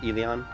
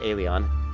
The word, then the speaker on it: Elyon: of people talk about eleon or it's actually it's pronounced alien a lot of people